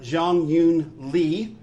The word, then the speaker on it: Jeongeun Lee: her name is Li Zhong Yu and we pronounce it Jong Hyun Lee in Asia they usually start with their last